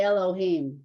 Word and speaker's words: Elohim: um okay I said whatever you want to pronounce it it's okay with me but it's a book yeah you should say Elohim yeah the pair book's always no it's just